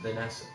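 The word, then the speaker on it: Vennessa: Or, no, it's still probably is just pronounced Vanessa.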